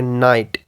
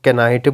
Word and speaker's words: knight: For example ये हमारे पास word है नाइट, इसकी स्पेलिंग देखी जाए तो KNIGHT है। सो वो बंदा जिसको नहीं पता वो ऑब्वियसली चांसेस है कि इसको कैनाइट बोल ले, क्योंकि ये कैसे शुरू हुआ है।